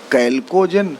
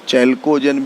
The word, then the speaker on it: chalcogen: इन्हें सामूहिक रूप से कैल्कोजेन, और कुछ लोग इसको चैल्कोजेन भी कहते हैं। ठीक है, हम यहाँ लिख रहे हैं कैल्कोजेन, और स्पेलिंग में CHALCOGEN। ठीक, तो इन्हें सामूहिक रूप